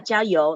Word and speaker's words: 加油: 加油. Am I saying it right? Yeah, 加油, like fighting, keep on going.